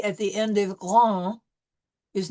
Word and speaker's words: grand: Grand, we will not pronounce the D.